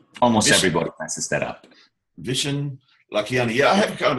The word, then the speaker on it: Vishen Lakhiani: It's Vishen Lakhiani. Almost everybody messes that up. Vishen Lakhiani.